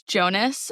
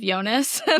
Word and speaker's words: Jonas: On the guys podcast, I always talk about how uh one of the guys on there says Jonas instead of Yonas.